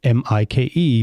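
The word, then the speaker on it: Maik: know I you know my name is Mike but it's like um it's spelled m-a-i-k so most people in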